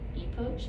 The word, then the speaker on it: epoch: like how you should call this new um epoch approach am i saying it right e p